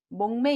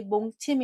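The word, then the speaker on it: 몽매: 보시겠습니다 까 자 읽으셨나요 정답은 목매 입니다 혹시 몽 침 이라고 읽으신 분 안 계실까요 꿈몽 에 잠잘 배 짜서 잠을 자며 꿈을 꾸는 걸 목매 오매불망 할 때 몸매입니다 두번째 한번 읽어 보시겠습니까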